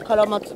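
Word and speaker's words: 落葉松: それでカラマツって読みます。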